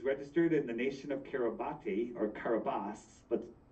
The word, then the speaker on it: Kiribati: that it was registered in the nation of Kiribati, or Kiribati, but spelled Kiribati, right?